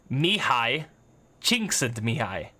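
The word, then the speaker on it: Csikszentmihalyi: at this guy's name I figured out how to pronounce this yesterday typed it in me hi said to me hi crushed it so that's this guy's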